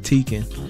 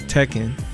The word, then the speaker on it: Tekken: how you say it I always called it tiken but I think it's pronounced Tekken um you go here